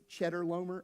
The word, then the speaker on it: Chedorlaomer: After his return from the defeat of, now this is not how you say this name. I'm saying it wrong on purpose because I think it's fun, but it's Chedorlaomer.